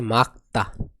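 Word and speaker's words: 맑다: আবহাওয়া খারাপ এরপর আছে মাক্কতা মাক্কতা মানে পরিষ্কার মাক্কতা মানে কি পরিষ্কার এখানে এর উচ্চারণ হবে কি মাক্কতা এখানে রিউল বাসিমটি উচ্চারণ হবে না রিউল বাসিমটি উচ্চারণ হবে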